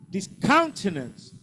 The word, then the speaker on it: discountenance: Discountenance. Say discountenance. Discountenance. Second syllable.